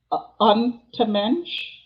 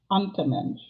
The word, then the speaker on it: Untermensch: not going to, well, maybe I'll try to pronounce it. Untermensch, German for subhuman. Untermensch.